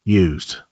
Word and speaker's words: used: There you can hear a Z sound and a clear D, used.